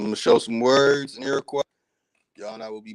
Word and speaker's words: Iroquois: Before I dig into these, I'm gonna show some words in Iroquois.